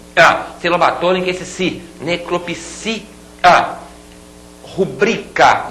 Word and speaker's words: rubrica: batô esse si necropsia rubrica e não rúbrica rubrica outra palavra paroxítona e algumas palavras proparoxítonas